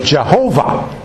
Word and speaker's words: Jehovah: name of God unpronouncable now we put vowels into it and say Yahweh others will put vowels into it and say Jehovah remember y h wh